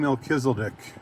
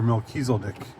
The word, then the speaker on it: Melchizedek: Let's talk about King Mechiseldick or Melkechis if we're to pronounce both ways in the Bible.